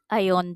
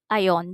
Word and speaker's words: iron: I iron the clothes. I iron the clothes. R is silent.